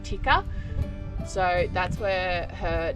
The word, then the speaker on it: Tikka: Well, she's not named after Tikka as in the curry. She's named after a gun brand, which is actually pronounced, I think, Tikka.